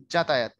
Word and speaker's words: যাতায়াত: লেখার সময় লিখবেন যাতায়াত, উচ্চারণ করবেন যাতায়াত।